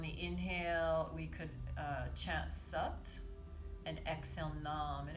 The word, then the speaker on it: Sat: So on the inhale, we could chant Sat and exhale Nam. And it's pronounced S-U-T, it's spelled S-A-T.